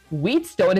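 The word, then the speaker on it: whetstone: Even a blade needs time on the wheat stone, is how you pronounce it, to stay sharp.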